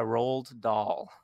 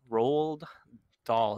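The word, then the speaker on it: Roald Dahl: on a book by rolled doll rolled doll is the way i pronounce it you have to look how it's how it's spelled it's like ronald with no n in there it tells the story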